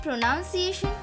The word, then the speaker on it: pronunciation: But wait, do you say it pronunciation? And if you say that, you are wrong. Because the word between pro and ciation, which is pronounced noun by many peoples, is exactly pronounced none.